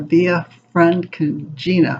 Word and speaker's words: Via Francigena: So he decides to take this pilgrimage, the Via Francigena, I believe is how you pronounce it.